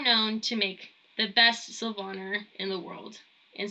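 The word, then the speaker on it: Silvaner: to make the best Silvana in the world and so I know some people pronounce that sylvaner but whatever you prefer so this is a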